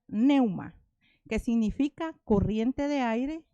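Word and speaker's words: πνεῦμα: en el numeral 4151 y se pronuncia neuma que significa corriente de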